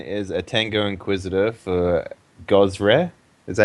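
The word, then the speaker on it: Gozreh: So, Inquisitor Mason is a Tango Inquisitor for Gosre.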